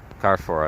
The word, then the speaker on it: Carrefour: Fairview and it's called um four the Carrefour Carrefour I believe is how you pronounce it and yeah it is quite large